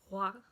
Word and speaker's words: roi: No real back of the throat. Roi.